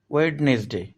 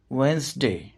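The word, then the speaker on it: Wednesday: ওয়েডনেসডে, এটিকে অনেকেই ভুলভাবে উচ্চারণ করে থাকেন ওয়েডনেসডে, এর সঠিক উচ্চারণ হল ওয়েডনেসডে।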